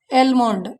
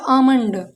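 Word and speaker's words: almond: इसे पढ़ते हैं वैसे बच्चे मैंने देखा है एलमोंड, एलमोंड नहीं होता, होता आमंड।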